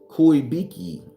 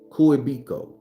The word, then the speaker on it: Kuebiko: Kuebiki. Kuebiko. Kuebiko.